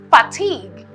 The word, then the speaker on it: fatigue: Moving on, this is a noun, and it is fatigue. Fatigue. It is spelled F-A-T-I-G-U-E. The U and the E are silent, right? But it has to be there because of the origin of the word.